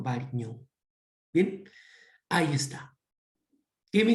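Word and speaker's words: Varignon: Variñón, ¿no? La ñ en Italia se pronuncia como una combinación de G y N, ¿no? Variñón.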